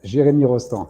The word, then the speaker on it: Jeremie Rostan: Jeremie Rostan is how you pronounce it.